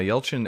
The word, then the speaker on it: Yelchin: Yeah, Yelchin.